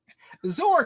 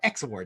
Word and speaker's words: XOR: of them is true zor kind of flips it on its head or exor depending on how you on how you pronounce it okay so for zor